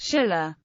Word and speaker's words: Silla: standardized on the characters, which in modern Korean is pronounced sh-illa.